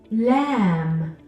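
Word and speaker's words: ل: J in English lamb lamb makes a sound kind of like your l in English except we're not doing L we're doing la la we're touching the tip of our tongue to the roof of our mouth the next letter is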